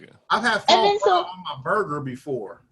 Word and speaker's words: foie gras: Foie gras.